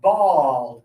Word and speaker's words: bald: are all examples of bald people. Okay. Bald. So even though this is a letter A, it's still going to use the a sound like b and raw. This one is a a bald.